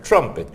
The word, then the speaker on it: trumpet: es una revista británica en inglés trompeta se dice trumpet se pronuncia igual que Trump y le agregas la et al final trumpet que alude a la